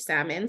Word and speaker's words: Salmon: yeah so you my last name is spelled just like the fish salmon so oh don't